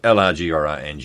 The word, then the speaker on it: Lagrange: And again, Lagrangian points, Lagrange, how was he pronounced? Lagrange. Yeah, no, it's Lagrange, you're right.